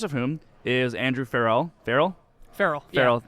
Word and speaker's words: Farrell: But spelled like Colin Farrell, not Will Ferrell.